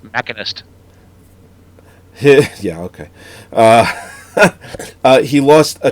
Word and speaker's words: Machinist: It was Christian Bale for The Machinist. Not only his performance was fucking through the roof. I think that's pronounced Machinist.